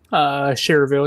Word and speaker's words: Schererville: Supposed to be leaving Elkhart to go to, how do you pronounce that? Schererville? Cherville, yeah.